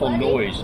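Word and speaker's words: Noyes: lanter light Fred andth it's not it's Fred and eth noise and their noise their name is spelled n o y s not the noise like yeah the museum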